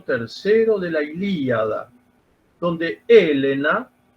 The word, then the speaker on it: Helena: de La Ilíada donde Helena así deberíamos pronunciar de manera correcta en nuestra lengua el nombre griego por simple incuria pronunciamos de manera grave es palabraa donde por